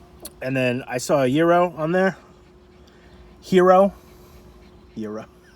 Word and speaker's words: gyro: fake gyro ever so the best way to learn how to say this item is just think about you don't want to date a zero what a date a hero and that's how that's